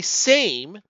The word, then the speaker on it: SAME: concepts that's what the same project it stands for self-assembling machine learning environment the l is silent and for that what